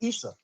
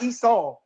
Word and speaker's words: Issa: No, I'm saying Issa is Jesus's real name. Issa. Issa. Not Esau. Isa.